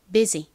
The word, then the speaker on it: busy: 그런데이 단어에서는 예외적으로 유가 어 우유 소리가 아니라이 소리로 쓰였어요. 그래서이 단어의 발음은 busy입니다. busy 이런 예외 경우는 잘 기억을 해 두셔야겠죠?